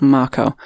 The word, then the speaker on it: Mako: the first marco reactor i'll try and pronounce it right it's not mako it's marco um and they're in